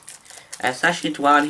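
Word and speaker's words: Sacha Dhawan: Uh Sashi Dwan, which I only recently worked how to pronounce his last name. Sashi Dwan, who now plays master, played one of the creators of the show in this.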